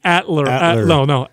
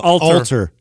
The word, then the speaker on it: Alter: Speaking of people like that, by the way, Adam, you've been pronouncing someone's name wrong for like 3 years. Who? Adam Atler. Alter.